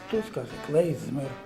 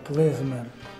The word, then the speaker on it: klezmer: Some say "klezmer", others say "kleizmer". Regardless of the way we pronounce, the meaning does not change.